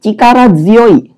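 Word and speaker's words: 力強い: Kata berikutnya adalah chikara zyoi. Nah, di sini agak spesial di mana kedua-duanya dibaca secara kunyomi, tetapi bacaan tsuyoi itu berubah menjadi zuyoi.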